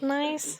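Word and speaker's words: gneiss: oh well that's nice it's spelled g-n-e-i-s-s so you wouldn't think it's pronounced nice but it's it's from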